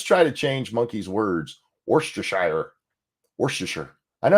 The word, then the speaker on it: Worcestershire: Because you guys decided you don't actually have to say all the letters you put into long ass words for no reason. And for some reason you pronounce Shire as sure.